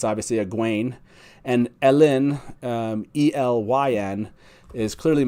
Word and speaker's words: Egwene: For the purposes of this, Egwene, it's spelled E-G-U-E-N-E, it's obviously Egwene, and Elyn, E-L-Y-N, is clearly meant to be Elaine.